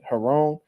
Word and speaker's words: Giron: I think his name they pronounce it with like a h like in Spanish Heron I heard people saying